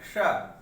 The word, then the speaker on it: श: तालव्य श, श तालव्य श उच्चारण है श। तो ये तालु से उच्चारण होता है, इसलिए इसका नाम पड़ गया क्या?